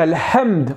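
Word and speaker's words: الحمد: chose et ben non quand vous allez dire al hamd en ver c'est la louange et h c'est la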